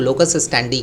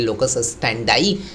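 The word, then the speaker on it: locus standi: तो यहाँ पर हम लोग लोकस स्टैंडी के बदले में लोकस स्टैंडाई पढ़ते हैं तो अच्छा रहेगा, ठीक है।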